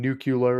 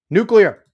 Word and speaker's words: nuclear: Caveat is trying to piss me off, saying nuclear is the right way to say it. Quote, mittens, unquote. No, stop it. Nuclear. It's not one of those words that they pronounce it the different way.